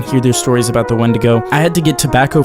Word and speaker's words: Wendigo: But after all of that, he began to tell the story of the Wendigo, or how they pronounce it, week-to-go, in the only language he had ever heard it, Cree.